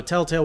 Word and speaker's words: Telltale: fatigue hell telltale everyone people are saying you say it wrong and you do you say tail tail tail tail tail tail tail tail tell-tale yay I know you have